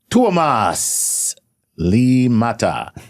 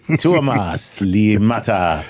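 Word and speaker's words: Tuomas Liimatta: This is tuas. Li mata. Okay. Tuas. Li mata. How do you how do you spell it? Okay. T U O M A S L I M A T A. Limata. Tuas. La mata.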